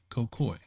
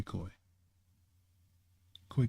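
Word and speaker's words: Khoikhoi: Did I say it right? Cocoy Kokoy or is it Koi Koi? Koi Koi.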